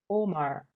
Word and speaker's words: Ormur: I'm good, thank you Good seeing you Yeah you too So, this film, is it pronounced 'Ormur(oh mah)'?